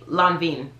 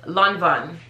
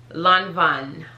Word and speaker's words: Lanvin: on my instagram and i used to say la vin i literally just used to say lon veen but it's lanvin lanvin i know there's like a secret h in